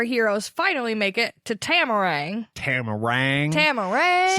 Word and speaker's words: Tamarang: finally make it to tamarang tamarang camel race you put the emphasis on the second half and I put it on the first half I say tamarang because